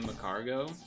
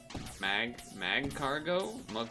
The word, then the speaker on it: Magcargo: we're gonna see a Macargo at some point. I always get that thing's name wrong. Magcargo? Marcargo? I think it's Magcargo, like magma.